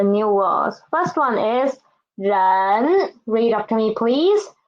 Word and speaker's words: 人: First one is 人. Read after me, please. 人, 日, n, 人.